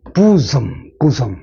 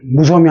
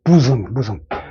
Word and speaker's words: bosom: 발음은 bosom. 무섬이 아니고 bosom.